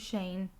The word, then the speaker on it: Shane: And then he was like, my name is Shane. It rhymes with rain.